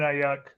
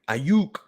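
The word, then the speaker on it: Aiyuk: would still go Brandon ayak you gotta say it right ayuke you saying dog's name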